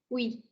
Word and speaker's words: oui: But then you have UI, which is the sound of oui, oui. It's like oo, and this is e.